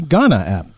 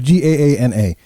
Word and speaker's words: Gaana: India, we're on the Ghana app. Or Ghana app. I don't know how you pronounce that. I'm sorry. It's Gaana. Apparently, that's like the biggest podcasting platform over in the country of India.